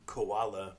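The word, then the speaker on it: Kuala: It's called Bake Shop by Koala, but it's spelled k u a l a.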